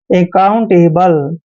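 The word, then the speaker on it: accountable: हम क पढ़ते हैं और ओ यू का देखिए ओ यू को क्या पढ़ना है ओ यू को हम आऊ पढ़ते हैं ऐसे ठीक है और एन को आधा न और टी को ट पढ़ते हैं अकाउंट ठीक है ना अकाउंट भी पढ़ते हैं और अकाउंट भी पढ़ते हैं ए बी एल ई को एबल पढ़ते हैं यानी कि अकाउंटेबल अकाउंटेबल होता है जवाबदेही जवाबदेही का मतलब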